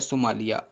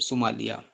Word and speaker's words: Somalia: ठीक है, सबसे पहला नंबर पे आता है सोमालिया, SOMALIA, सोमालिया।